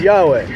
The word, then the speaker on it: Yahweh: four letters yhw H they say well we don't know how to pronounce it well that sex is like me lying at you and say I don't know how to pronounce mark but yeah I speak English and English we know says mark just like in English we know it says Yahweh so this is the